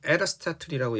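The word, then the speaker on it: Aristotle: 탈레스와 그 다음에 우리가 에르스타툴이라고 영어로 발음합니다.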